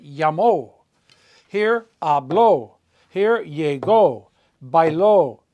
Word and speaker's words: llamó: That's why all over here, this should be pronounced llamo, but we have to put an accent mark on it to tell you to pronounce it llamo.